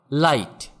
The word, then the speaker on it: light: আবার লাইট, LIGHT, এখানেও GH এর উচ্চারণ হবে না।